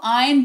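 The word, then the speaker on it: iron: दो आयन the clothes देखो हिंदी में आयरन लिखते हैं आयरन बोलते भी हैं बट अंग्रेजी में जो है ना आर का उच्चारण नहीं किया जाता इसको आयन पढ़ा जाता है ठीक है आयन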